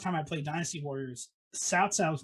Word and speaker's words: Cao Cao: So I was playing a Dynasty Warriors game, and they're like, "Look, it's Cao Cao," and I'm like, "Oh, fuck, that is how you say his name."